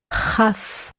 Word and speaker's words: Chaf: Kaf, Kaf, K, as in ark, and without the dagesh it is Chaf, Chaf, like when clearing out your throat.